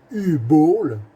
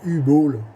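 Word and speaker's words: Uwe Boll: C'est un film de U-Ball ou U-Ball. Bon, selon la prononciation. Moi je dis U-Ball.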